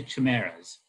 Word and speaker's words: chimeras: One clings then to chimeras, you can pronounce it with a hard or soft CH, by which they can only be betrayed.